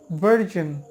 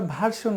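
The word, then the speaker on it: version: উপরের দাঁত নিচের ঠোটের সাথে ঠেকে গলার মধ্যে ভাইব্রেট করে বের করতে হবে।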